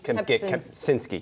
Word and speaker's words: Kempczinski: have been, how do you say his name, Kaczynski? Kempczinski, yes.